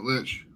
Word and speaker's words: lich: He's just a lich. Is that how you pronounce it? Yeah, lich. He is a lich.